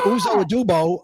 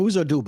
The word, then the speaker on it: Uzo Aduba: Or Uzo Adubo. I always get her name wrong. Uzo Aduba, I think.